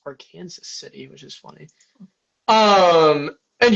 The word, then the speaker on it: Arkansas City: And I heard that that was actually pronounced our Kansas City, which is funny.